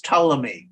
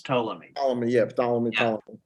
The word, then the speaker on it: Ptolemy: this is this is Ptolemy I mean the p is silent this is Ptolemy Yeah Yeah so basically